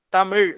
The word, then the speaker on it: தமிழ்: ஒரு சிறந்த எடுத்துக்காட்டு சொல்லணும்னா நிறைய பேர் என்ன சொல்லுவாங்க தமிழ் அப்படிம்பாங்க தமிழ் அப்படின்னு சொல்லவே கூடாது ழகரம் தமிழ் அப்படின்னு சொல்லணும் அந்த உச்சரிப்புங்கிறது ரொம்ப ரொம்ப